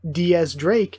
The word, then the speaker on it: X Drake: like heavy Christian themes to that and then Diaz Drake has his name is stylized as Roman numeral 10 the X Drake but it's pronounced Diaz Drake again Diaz 10 so again very cool I